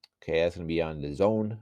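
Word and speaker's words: DAZN: Okay, that's gonna be on the Zone. I didn't know how to pronounce that till like recently. The Zone. I thought it was just called Daz, and I don't even know.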